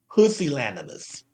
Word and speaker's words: pusillanimous: It's actually pronounced pusillanimous.